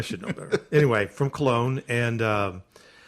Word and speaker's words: Cologne: from col I think I don't really know how to pronounce col say Cologne okay cologne I TR I